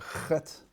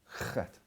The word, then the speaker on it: Chet: In fact, it's interesting, the letter Chet is a very difficult letter to pronounce. Chet. It lives very deep inside the throat and the garon.